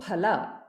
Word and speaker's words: phala: Instead of saying phala, we don't have fa in Sanskrit. Okay, that is an influence of Hindi.